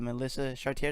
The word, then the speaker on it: Melissa Chartier: You can go check her out at Melissa Chartier. Did I pronounce it right?